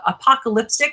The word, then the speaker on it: Apocalipstick: Tell us, you have a Apocalipstick. Is that how you pronounce it? That's correct, and that's the zombie vampire horror story.